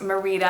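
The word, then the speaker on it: Mérida: In Spanish, this is pronounced Merida and is a place name and a given name of unknown meaning.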